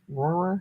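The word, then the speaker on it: Rohrer: of these or inks aurora that's how they're pronounced r o h r e r r ror that's like trying to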